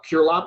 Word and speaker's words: Curelop: Curelop, is it? No, you said it right the first time, man. One of the first ones. Curelop? Curlop.